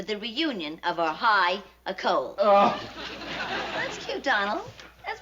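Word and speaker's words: école: reunion of our high a Cole. Oh. That's cute, Donald. That's very cute. A Cole means school in French, and it rhymes with roll and bowl.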